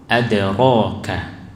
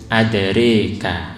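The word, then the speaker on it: أدراك: yang sering kita baca, itu saat membaca lafaz adraka itu ro-nya dibaca ro. Adraka. Tapi kalau Imam Syu'bah itu membacanya dengan imalah adraka. Nah ini ya, adraka ini Imam Syu'bah.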